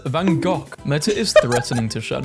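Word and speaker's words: Van Gogh: suu hey American saying van go is pronounced Vango British saying it's pronounced vanov it's a Dutch name and Dutch pronounce it as vanok meta is threatening to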